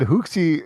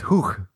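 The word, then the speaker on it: Huch!: You said the game was by, I think you said Hookchi. It's Hook.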